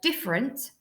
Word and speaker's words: different: then in the word different we can't actually really hear the e in there diff if we were